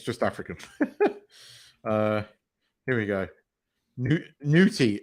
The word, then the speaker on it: Ncuti: Ncuti, right? That's why I called him Nutty, because when you see it written, it's spelled N-U-N-C-U-T-I or whatever it is.